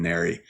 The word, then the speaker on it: NARI: It seems like it should be NARI, but I think they had like a whole, what do you call it? Like a whole information session explaining how to say it. So I've actually gotten pretty comfortable saying NARI.